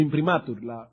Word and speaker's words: imprimatur: Su imprimatur, el acento en la A.